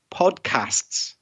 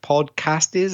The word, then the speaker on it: podcasts: was the audio quality, the plural of podcast, podcasts. I thought I heard like you put in an extra vowel sound like podcast is or something like that.